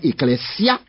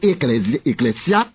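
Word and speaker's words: ἐκκλησία: grec eclésia alors en prononcer bien ecclésia c'est qu' s doit prononcer parce que est-ce deux voyelles dans grec pas pas prononcé comme Z il écrit ça dans grammaire grecque pas prononcer la lettre S entre de vo comme si c'est encore en français c'est pas comme ça ça raison et pas raison donc c'est ecclésia il pas seulement appliqué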